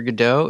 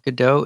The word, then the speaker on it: Godot: And apparently in the French pronunciation of Godot is more like Godot. Like the first syllable is emphasized, so the God part.